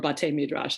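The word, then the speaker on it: beit midrash: just have been studying bait midrashin lately or bhatte midrash is the right way to say it but taymidrash and i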